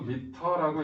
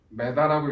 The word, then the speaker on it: 미터: 소문자 m이라고 쓰고 미터라고 읽어요. 메다라고 읽지 말고 제발 미터라고 읽으세요. 아직도 메다 그러시는 분들 꽤 많아. 그건 어디식 표현? 일본식 표현. 이걸 100m라고 읽으면 이상하잖아. 100m라고 보통 읽잖아, 그지? 100m. 근데 보통 할아버지들은 아직도 100m, 200m 보통 이렇게 얘기를 한다. 메다. 이거는 일본식 표현이야.